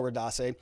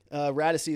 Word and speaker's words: Radisi: Wow, that was a close call, Radase. Radisi. Radisi is how you say that name.